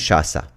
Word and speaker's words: Shasa: It's spelled Shasa, but a lot of people are just Lovely. making her Sasha.